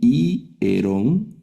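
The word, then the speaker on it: ἱερόν: Por ejemplo, aquí ireon y si estuviera el orden inverso primero lailon sería sería solo iron, pero aquí i erón templo a ios.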